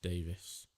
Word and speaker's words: Davies: Davis or Davies? Davies. My name is pronounced Davis. We got the E in it.